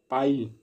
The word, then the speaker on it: pie: पाई, PIE, पाई। इसे पी नहीं बोलेंगे, इसे पाई बोलेंगे, जिस तरीके से लिखा गया है वही बोलेंगे।